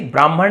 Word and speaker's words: ब्राह्मण: वैसे ही ब्राह्मण नहीं होता। ये होता है आपका। ये देखिए आधा ह और फिर म और ण। ब्राह्मण तो बहुत से लोग गलत उच्चारण करते हैं।